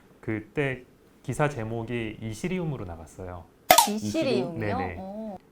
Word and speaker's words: Ethereum: 이시리움이요? 네네. 사실 좀 영어 발음으로 하면은 이서리움이 좀 더 가까운 발음이고 그러니까 굳이 이렇게 직역을 하자면은 이시리움이 좀 더 비슷한 느낌이긴 해요.